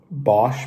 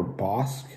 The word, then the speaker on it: Bosc: as a kid um today i'm trying a bosch pear or boss i'm pretty sure it's pronounced bosch it's a b-o-s-c uh